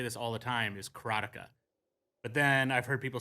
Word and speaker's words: Karateka: with uh I pronounce it and I've always pronounced it you're going to hear me say this all the time is ctica but then I've heard people say karaa keratea and Kara in other ways but uh Kaka is the way I've said it and I